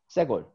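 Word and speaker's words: סגול: So segol has short e. So you're gonna pronounce it segol.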